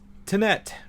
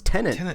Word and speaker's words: Tenet: know but anyway uh tinette right did i say it right this time right happy this time no no it's tenant damn it tenant yeah